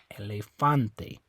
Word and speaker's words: elefante: e it's gonna be the second last syllable that a right there okay so you say la Fonte so it's not this e you don't say elephante it's not that e you don't say la Fonte um it's not this e you don't say Elefante okay it's on the a Elefante elefante Elefante okay same